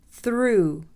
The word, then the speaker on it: through: Now for the silent GH, you pretend that it's not even there. High, high. Sigh, sigh. Through, through.